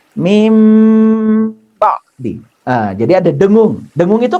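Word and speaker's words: مِنْ بَعْدِ: Tidak boleh min ba'di, tapi mim ba'di.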